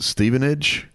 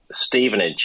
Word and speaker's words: Stevenage: And the the clip that we played at the beginning that was how how do you pronounce this team? It's a fourth division team. Yes. Stevenage. Stevenage.